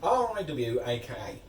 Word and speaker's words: Riwaka: It's spelled R-I-W-A-K-A.